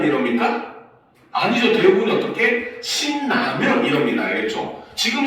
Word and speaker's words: 신라면: 신라면 이럽니까? 아니죠. 대부분이 어떻게? 신라면 이럽니다. 알겠죠? 지금 신, 니은 받침 뒤에 라, 리을이 왔는데 오히려 이 경우는 신라면이라고 하면서 비음화가 일어나고 있죠.